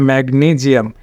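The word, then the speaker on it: magnesium: ট্রেসক্রিপশন করেছি দেখুন ম্যাগনিজিয়াম যেহেতু নিয়ম আছে যে এস এর আগে যদি ভাওয়েল হয় তাহলে কিন্তু এস টা কিন্তু জ হবে যার কারণে ম্যাগনিজিয়াম এটা ম্যাগনিজিয়াম এটা কিন্তু কারেক্ট প্রোনাউন্সিয়েশন এটা ক্যাম্বেস ডিকশনারিতে কিন্তু এটা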